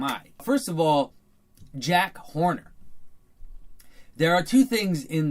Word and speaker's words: Horner: feet then Horner the the notion of Horner you have to see it as rhyming with corner of course Horner and